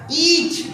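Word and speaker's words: each: जैसे यहाँ पे लिखा है ईज, ई के लिए ई आया, ई ए के लिए ई, देखिए ई ए ई और सी और एच, ईच। क्या पढ़ेंगे? ईच। अब हमको पता ही नहीं था कि बोले सी एच का मतलब च होता है क्या?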